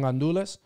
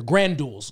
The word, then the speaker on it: gandules: And like the it's like they're granduls when you read it. It's right. Grand, but like I learned that like we pronounce it in my family, gandules. Like we don't even say the R.